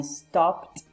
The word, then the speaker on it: stopped: So some examples are I stopped. Remember that here ED is pronounced as a T.